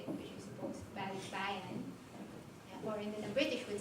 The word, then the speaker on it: balikbayan: it, which is supposed balikbayan, or then the British would say it. But that would be very strange just to have those two, when in fact the pronunciation is balikbayan.